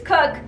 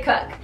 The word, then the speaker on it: Koch: do you pronounce it i know it's hard it's cook we say cook it's my mom's main